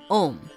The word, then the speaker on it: om: is represented by the AUM three in one pronounced om the sound or word of